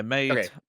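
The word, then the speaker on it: Meitantei: Meitante. I don't know. Yeah, it's basically Great Detective Sanma. Yeah, Meitante.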